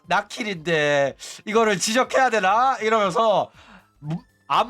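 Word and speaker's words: 百鬼: 그 호로라이브에서도 나키리 아야메 같은 경우에도 그 원래는 그 한자를 일반적으로 나킬이라고 안 읽어. 샤키라고 읽거든. 백기라고 읽어. 그래가지고 사람들 또 아야메 방송 안 보는 애들은 이거를 나킬이 아야메인 줄 몰라가지고 샤키상 막 이래가지고 오조가 샤키가 아니라 나킬인데 이거를 지적해야 되나 이러면서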